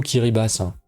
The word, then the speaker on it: Kiribati: Ça se dit plutôt Kiribas, c'est qu'ils ont un alphabet avec seulement 13 lettres et pour le ti, c'est utilisé pour signifier un s.